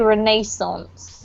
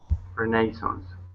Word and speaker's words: Renaissance: This is a French word, but if you pronounce it in the Englishy way, we usually say Renaissance, okay? Renaissance. Yeah.